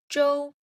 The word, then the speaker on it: 周: This character is 周周 first tone 周.